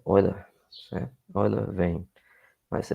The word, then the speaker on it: Euler: A pronúncia é Euler, embora esteja escrito Euler, mas a pronúncia na língua oficial é Euler, certo?